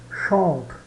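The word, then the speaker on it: chantent: Chante, chante, chante. Chantons, chantez, chante, chante. Né? Sabemos já, pelas nossas regras de pronúncia, que esse ENT final não é pronunciado, né?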